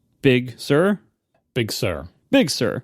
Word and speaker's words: Big Sir: to try it again equal Accent on both syllables I'm going to say Big Sir Big Sir big sir